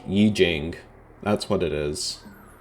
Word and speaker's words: Yi Jing: Wikipedia article would um I Ching that's what it was I don't even know if that's how it's pronounced Yi Jing that's what it is